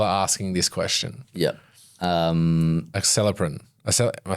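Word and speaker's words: Acelepryn: Acceleprin.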